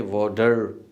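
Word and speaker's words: water: क्योंकि हमें हमारे टीचर्स ने, हमारी कम्युनिटी ने वाटर ही सिखाया है, लेकिन गोरे इसको प्रोनाउंस करता है वोटा। ब्रिटिश प्रोनाउंस है वोटा, अमेरिकन प्रोनाउंस है वोडर।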